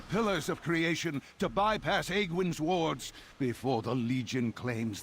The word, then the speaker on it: Aegwynn: I I didn't realize it's pronounced Aegwynn.